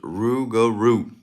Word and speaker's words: rougarou: It's pronounced Rougarou.